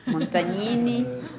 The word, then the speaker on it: Montagnini: Montagnini is the right way.